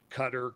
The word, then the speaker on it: Qatar: speaks Arabic I don't is it Qatar yeah I say cutter qarar it's there's a